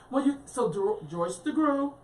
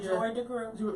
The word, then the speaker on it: Joy DeGruy: I mean, Joyce DeGruy. I think I said her name wrong. Yeah, Dr. Joy DeGruy.